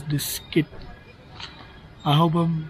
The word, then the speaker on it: Diskit: Sounds like biscuit, but it is diskit.